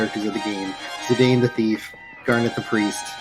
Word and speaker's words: Zidane: Same with like Zidane. It's supposed to be Zidane, I do believe, but I say Zidane.